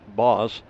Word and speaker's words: Bos: Ninka says it's not, actually she says booze, B-O-O-S, I think she means Bose, as that means angry in Dutch. So just B-O-S, boss, with a short O, meaning forest in Dutch.